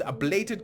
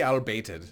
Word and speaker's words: ablated: And you've got ablated, sorry, everybody always gets mad at me when I say it wrong. It's ablated copper sulfate by Zero Gravitas. Well, people don't get mad, they correct me. And then I say it wrong again, because that's what I do. Ablated. For some reason, I always see albated.